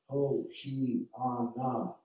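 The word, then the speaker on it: הושענא: He comments, the word Hosanna, the Greek writing of the Hebrew verb from the Psalm save, the Hebrew Hosanna, pronounced Hoshi-ana, is an imperative, a cry for help.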